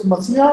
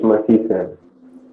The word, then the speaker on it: Masi: Wait, it's Masiya or it's Masi? What's actually pronunciation? Can you please tell me? Masi. It's Masi, sir. Masi.